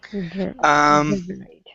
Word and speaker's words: reverberate: But just so that you know, most of the time when the ate is an it sound, it's because it's a noun. When it's a verb, we do pronounce that as ate, right? Okay. Reverberate.